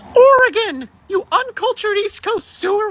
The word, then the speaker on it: Oregon: It's pronounced Oregon, you uncultured East Coast sewer rat.